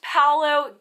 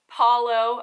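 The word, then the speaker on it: Palo: All right, if you guessed Paolo, give yourself a point. I should say Paulo. I had a friend on here, Dennis, who corrected my pronunciation, so if you guessed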